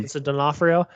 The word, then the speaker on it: Vincent D'Onofrio: So, speaking on Vincent D'Onofrio, is that how you pronounce it? mm-hmm. Vincent D'Onofrio.